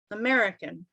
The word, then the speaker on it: American: the hang of it and american american second syllable american american right